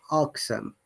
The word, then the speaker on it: irksome: If you're after the British IPA or British accent, remember that in most of the cases, R is not pronounced unless the R is at the beginning of the word or in between of two vowel sounds.